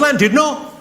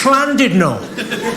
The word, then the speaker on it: Llandudno: like thunder when it's not land did not you bloody fool its plan did not in Wales the Double L is pronounced with a sea I said all right